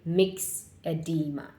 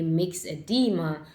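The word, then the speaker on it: myxedema: Let's move to hypothyroidism, aka hypometabolism, aka mixed edema. This mix is spelled MYX, mixed edema.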